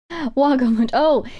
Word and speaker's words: Vago: quick um oh oh wag oh so um it is spelled Veo but in the Latin that I learned it' be pronounced as Wago and that is the